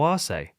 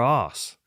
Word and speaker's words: Arce: So why do we say Darce and Arce and not Darce or Arse? Because no one says arse. We do in England a lot. I mean, it's spelled with an S instead of a C.